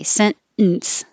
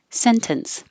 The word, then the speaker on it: sentence: not thinking about it i will say sentence the second way sentence holding my tongue in the end position sentence but when i'm being careful i pronounce the t sentence so if you hear